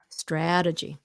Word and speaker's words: strategy: Strategy. Strategy. See, look, that T in between two vowels, we turn it to a D.